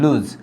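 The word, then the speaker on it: lose: হ্যাঁ, লুজ, এটা হচ্ছে লুজ, এটা জয়ের মতন উচ্চারণ হয় লুজ।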